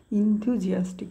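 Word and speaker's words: enthusiastic: short short करून करायचं म्हणजे लिहिताना पण इंग्रजीचे स्पेलिंग चुकणार नाही आणि आपल्याला प्रोनाऊन्सिएशन मध्ये पण काही प्रॉब्लेम येणार नाही हे लक्षात घ्या इंतुजियास्टिक त्याच्यासाठीच मी सेपरेटली वेगवेगळे करून सांगतोय तुम्हाला म्हणजे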